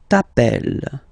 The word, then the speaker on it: t'appelles: Okay, remember, final S not pronounced. Tu t'appelles.